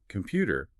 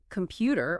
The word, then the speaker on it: computer: Well, if you were to say computer or important, emphasizing those first syllables, it would sound strange to a native speaker.